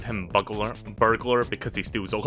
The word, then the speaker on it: Bugler: wrong by the way i thought his name was bugger it's buggler professor bugler or dr